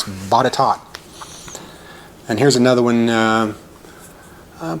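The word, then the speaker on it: Botetourt: further ado it is bottot and that's bottom virginia and that is suggested by susie herrold i don't know how that r gets so silent and even then you'd think it'd be bada taut but it's bodytalk here's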